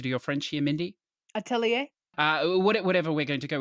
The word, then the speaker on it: Atelier: about these games so I'm gonna pronounce it how they do within the games themselves which is at Lear I know some people